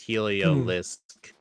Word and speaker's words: Heliolisk: Heliolisk? I say Heliolisk. I say Heliolisk, but Heliolisk I guess would be also accepted. Yeah, if you look after the Helio, there's an L, so it's Heliolisk.